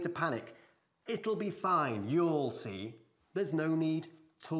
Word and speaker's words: you'll: Pero siempre, siempre, siempre contraemos ahí. You'll see. Una sola sílaba, por supuesto.